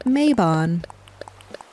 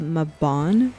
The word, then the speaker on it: Mabon: But here in America, you would say it Maybon, which makes me feel like something should be happening in May. You know, like Maypole. So I'm going to stick with the Mabon pronunciation.